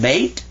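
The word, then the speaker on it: بيت: This says ba, and that means be quiet. Like this silent y is right here in English. This means be quiet. And this is ta. Beta. Bait. So that's how you say house in Arabic.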